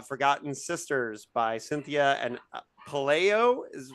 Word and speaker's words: Pelayo: while, and that's Forgotten Sisters by Cynthia and Pelayo. Is right? Am I pronouncing it? Pelayo, you're close, but good. Yeah, Pelayo.